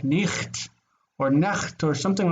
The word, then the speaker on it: Nacht: In German you've got that Nacht, cha, right?